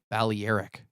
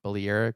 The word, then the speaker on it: Balearic: I like Balearic.